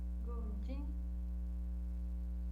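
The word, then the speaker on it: 公斤: gojin. Isso. Certinho. Entendeu como é que pronuncia esse daqui? É subindo e descendo, né?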